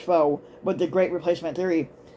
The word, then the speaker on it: Fox: obsessive preoccupation fo um or as people like to call it fox but it's actually pronounced foe but the great replacement